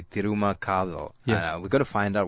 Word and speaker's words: T'ruma Kathal: of course what means it's spelled T apostrophe Ru m a space k a t h l which uh in Tamil would be Tuma we got to find